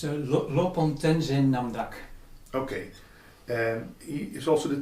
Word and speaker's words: Lopon Tenzin Namdak: Yeah, it's Lopon Tenzin Namdak.